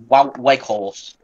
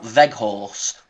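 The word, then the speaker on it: Weghorst: also looking fine uh wake horse who exactly say it again uh well I think it's pronounced veg horse so we've scored two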